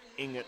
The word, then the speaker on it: Inget: So yes, I just got confirmation from Stacy that Inget is the correct pronunciation.